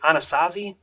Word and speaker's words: Anasazi: The Anasazi, I believe is how you say it, natives, made most of these pueblos and different cliff dwellings.